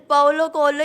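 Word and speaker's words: Paulo Coelho: आप बताएं exact pronunciation बताएं मुझे भी पता नहीं है सर पाओलो कोलो ही एग्जैक्ट तो मैंने मेरे फ्रेंड्स को फर्स्ट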